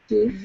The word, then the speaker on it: give: second one is different give yep give yes short eye even though usually we have this rule that the e at the end makes the vowel sound long like Hive dive five but give breaks that rule irregular thanks Hayne number